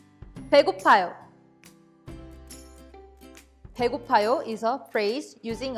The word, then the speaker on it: 배고파요: Let's first practice the pronunciation of 배고파요. 배, 고, 파, 요. 배고파요.